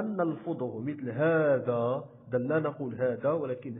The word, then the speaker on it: هذا: إذن ومن خلال هذا الدرس سنتعرف الأهداف التالية، وهو تعرف اسم الإشارة وحالة كتابتها ولفظها، ثم كذلك سنتعرف الأسماء الشاذة وحالة كتابتها ولفظها.